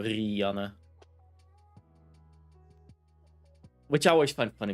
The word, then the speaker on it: Rianne: A lot of English people pronounce it Rianne. And yeah, we Dutch people have a little bit more of that R, so Rianne.